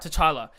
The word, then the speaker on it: T'Challa: T'Challa.